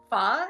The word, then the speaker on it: pho: Like pho is spelled PHO, but on the top of the O on the right side have like a question mark over on top of it. It says make it pho, pho.